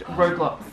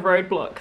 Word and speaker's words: Roblox: No, Roblox. Instead of roadblocks. Roadblocks or Roblox? Roblox.